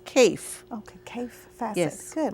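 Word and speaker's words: Kaffe: And his first name is spelled K-A-F-F-E, but it's Kafe.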